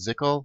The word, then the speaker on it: ZCL: And the symbol is ZCL, pronounced ZCL, like nickel.